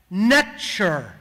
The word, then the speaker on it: NTR: NTR was actually pronounced nature almost identical extremely close to the English pronunciation of nature almost as if a